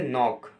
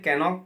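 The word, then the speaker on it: knock: जैसे एक एग्जांपल देता हूँ आपको मैं, the word is ए नॉक। अब इसे मैं कैनॉक पढ़ूंगा तो ऑब्वियसली बात है मैं अपने आप ऑटोमेटिकली स्पेलिंग रॉन्ग कर दूंगा, बट इसका प्रोनाउंसिएशन नॉक है।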